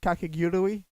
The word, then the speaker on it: Kakegurui: Am I pronouncing that correctly? Kakegurui?